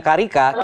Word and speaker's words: carica: budidaya pepaya carica atau carica tulisannya carica Tapi bacanya carica kita akan melihat profil